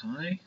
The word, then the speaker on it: chi: Kai Square test so where we see the chi it's pronounced Kai it's a Greek letter and a Kai squar